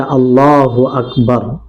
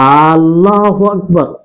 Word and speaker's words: আল্লাহু আকবার: আর এটার সঠিকভাবে উচ্চারণ আমাদেরকে করতে হবে, সেটা হচ্ছে আল্লাহু আকবার, আল্লাহু আকবার, যে আল্লাহ সবচেয়ে বড়। অনেক মুসাল্লি ভাই এইভাবে উচ্চারণ করে থাকে যে আল্লাহু আকবার, যেটা ভুল। আল্লাহু আকবার মানে এর অর্থ হয়ে যাবে যে আল্লাহ কি সবচেয়ে বড়, আল্লাহ কি সবচেয়ে বড়, তাহলে এটা প্রশ্ন চিহ্ন হয়ে গেল।